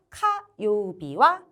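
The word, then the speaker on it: 火曜日: 그래서 카요비와 불이라고 할 때는 불화자죠, 여러분. 네, 불이라는 뜻을 가지고 있으므로 훈독, 히라고 읽어주시면 됩니다.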